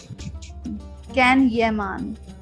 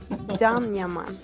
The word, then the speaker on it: Can Yaman: All right, so the first first name I have on my screen is Kan Yaman. Can Yeman. No. Okay. I'm Now, right Ozge, please It is correct us. Can Yaman.